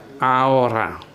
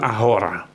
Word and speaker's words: ahora: kata Aura artinya sekarang ini diucapkannya Aura bukan ahora sebelumnya sudah kita Jelaskan bahwa huruf h huruf H itu ya tidak diucapkan tidak dibunyikan jadi Aura penggunaan atau kata forke